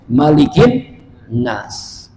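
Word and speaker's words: مَلِكِ: dibacanya panjang Maliki yaumiddin kalau dalam surah Annas dibacanya pendek malikin Nas ya Mari kita lihat dalam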